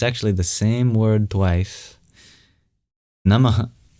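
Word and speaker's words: नमः: Namaha has a very interesting sound at the end, which is an expulsion of breath. And when it's before a voiced sound, it turns into the labioguttural vowel O.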